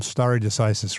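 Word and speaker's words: stare decisis: Well, I mean president's a legal ground, but um star decisis, right? Am I pronouncing that right?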